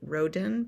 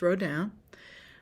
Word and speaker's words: Rodin: anyway wrote down it's it's r-o-d-i-n Maybe Might pronounce it Rhoden but it's pronounced row down um made this tiny little figurine and I